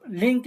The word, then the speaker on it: LINQ: इसको प्रोनाउंस जो लिंक भी बोलते हैं।